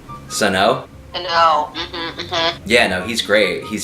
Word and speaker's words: Sano: Sano.